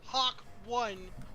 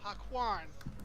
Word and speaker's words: Hakwan: It's not Hawk 1, it's Hakwan.